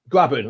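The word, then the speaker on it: Grabban: No, because is it Gabon or Gabion? I can't remember how you pronounce his name. He's injured, isn't he? The Forest striker. Graben. Graben, that's it.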